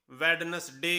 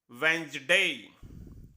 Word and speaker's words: Wednesday: हम इसे वेडनेसडे कहते हैं, लेकिन इसकी सही प्रोनाउंसिएशन है वेंसडे, वेंसडे, जिसका मीनिंग बच्चे बच्चे को पता है बुधवार।